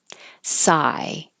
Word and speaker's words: sigh: Sigh. It just sounds like I. And this unusual IGH happens in high, height, night, and that's all I could think of.